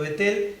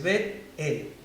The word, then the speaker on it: Betel: Muchas veces nosotros lo pronunciamos rápido, Betel, pero podemos ver que en la pronunciación hay una pausa al medio, es Betel, ¿sí?